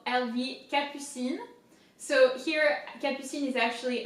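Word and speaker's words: Capucines: So Capucine, P-U, Capucine, Capucine. And so here the S is silent, so it's important to not pronounce it.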